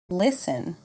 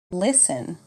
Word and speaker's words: listen: repeat after me hour honest air silent T listen Castle whistle repeat after me listen Castle whistle common pronunciation challenges V versus W fine wine repeat